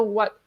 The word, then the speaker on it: Whot: Okay, I grew up playing like Uno, and in Nigeria we had an Uno type of game that's called What. It's spelled WHOT.